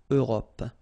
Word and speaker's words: Europe: Remember this final it's not really present. It only gives you the possibility to pronounce this P, PP at the end, okay? Europe.